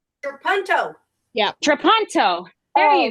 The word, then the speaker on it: trapunto: Trapettino? Trapunto.